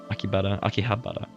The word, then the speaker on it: Akihabara: Akihabara. I've always recognized the H, but I just never pronounced it.